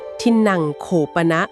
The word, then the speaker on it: ทินนัง โขปนะ: เจน ที่ สุด เลย คือ ทินนำ โคปนะ สุขพลัง โหติ อ่าน ว่า ทินนัง โขปนะ สุขพลัง โหติ นะ คะ ครับ ทินนำ